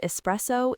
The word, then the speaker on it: espresso: Key number two, it has three syllables and the stress is on the middle one.